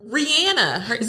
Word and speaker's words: Rihanna: Rihanna. Rihanna. That's how you pronounce it.